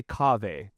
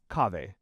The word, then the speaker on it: Kaveh: Okay, I say Kaveh. Kaveh.